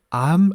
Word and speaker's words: 앎: 발음은 어떻게 되나요 예 표준어 대로 발음하면 한국 어문 규칙에 따라 발음하면 암입니다 l2 발음이 안 돼 조리를 미움에서 는 여기서 근데 왠지 그게 바로 하면 어색해서 자꾸만 이걸 암 이렇게 바람 하고 싶어지는데요 4 암입니다 아 하나님과 예수를 암